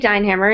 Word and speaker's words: Deinhammer: Okay, I'm Deinhammer, and you did say it right. You're one of the few.